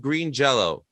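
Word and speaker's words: Green Jellÿ: are a member of green jello or jelly it's spelled jelly but pronounced jello yes well what i've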